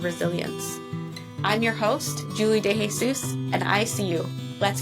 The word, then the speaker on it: De Jesus: Oh my gosh, that's not how you say it. It's Julie De Jesus. Julie De Jesus de Jesus. Yep. It's Julie de Jesus. And I am still learning how to say that last name.